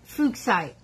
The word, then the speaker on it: Fuchsite: And he wants me to pronounce it correctly. So it's called Fuchsite.